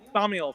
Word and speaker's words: Thaumiel: I have no idea how to pronounce this. Thaumiel? Thaumiel? Thaumiel, thank you.